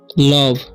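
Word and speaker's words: love: ठीक है, तो लास्ट में ई है और सेकंड में ओ है, तो ओ के साथ लास्ट में ई आता है तो ओ का उच्चारण हो जाता है अ, तो इसे पढ़ते हैं हम लोग लव। ठीक है, लोभ नहीं पढ़ना है।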